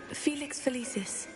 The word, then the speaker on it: Felix Felicis: question which potion is commonly referred to as falis Felix felicis well done said it wrong makes the